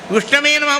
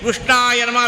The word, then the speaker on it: विष्णवे नमः: विष्णु नम विष्णु नम बोल रहा था। विष्णवे नमः बोलना चाहिए। विष्णाय नमः विष्ण गलत बोल रहा है।